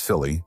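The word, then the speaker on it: Scilly: The aisle of Silly, pronounced Silly, and Netherlands are not sure if they have been at war for 300 years.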